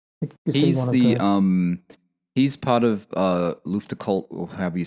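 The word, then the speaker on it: Luftgekühlt: I think it's Luftcult, isn't it?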